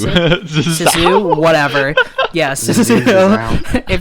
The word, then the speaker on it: Zissou: Yeah, if you don't want to be spoiled for The Life Aquatic with Steve Zissou, is that how you pronounce it? Zissou, whatever.